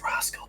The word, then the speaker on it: R4HSCAL: It's Rascal, but spelled with a 4 instead of an A.